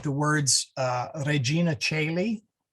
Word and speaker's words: Caeli: The OE, as I said, is just the same as the AE. They are exactly the same. So you may have seen like the words Regina Caeli, spelled C-O-E-L-I for Caeli and C-A-E-L-I for Caeli.